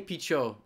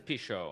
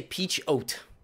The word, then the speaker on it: Pichot: certain let's just say peach oat peach oat i think the the emphasis is on the second syllable that's for sure pichot if if the t